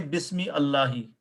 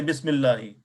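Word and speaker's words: بسم الله: and qata is that Hamzatul wasl is silent when there is a word before it. Right? Bismillahi. So did we use the Hamzatul wasl here or no? No. We did not say Bismi Allahi.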